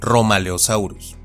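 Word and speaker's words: Rhomaleosaurus: Tanto la RH como la th se pronuncian y transcriben eliminando la H y pronunciando fuerte la consonante. Así, por ejemplo, tenemos este género que se pronuncia y castellaniza como Romaleosaurus.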